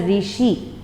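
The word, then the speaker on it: ऋषि: We have in Telugu, but in Hindi we don't have Ru. So how to pronounce this letter, this word? We have to say it as Rishi.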